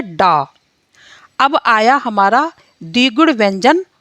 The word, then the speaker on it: ड़: तो इस तरह से जब हम बिना बिंदु यानी कि बिना नुक्ता के हम इस शब्द को यूज़ करते हैं, तो इसका जो उच्चारण है वो डा रूप में होता है, और जब हम नुक्ता सहित इस वर्ड को यूज़ करते हैं तो इसका उच्चारण अड़ा होता है, यानी कि ड़ा होता है।